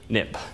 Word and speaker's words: xib: Xcode it became xib but you pronounce xib nip so for historical reasons